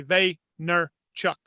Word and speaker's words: Vaynerchuk: wasn't Gary ve yet he would pronounce his name Gary ve nner Chuck and um I remember